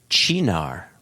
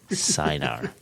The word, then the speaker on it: Chinar: on how to pronounce Chinar rather than Sinar.